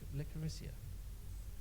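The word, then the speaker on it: Licoricia: Now, Helen, is it how do you pronounce it? Is it Licorissia?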